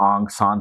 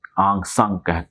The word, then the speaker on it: Aung San: आंग सान ठीक है जिसको कहीं पर आंग सान तो कहीं आंग संग कहा जाता है मुख्तलिफ प्रोनंसिएशन हैर हम उस तर प्रोनाउंस नहीं कर सकते जो उस मुल्क के बाशिंदे कर सकते हैं ये बरल फौजी जर्नल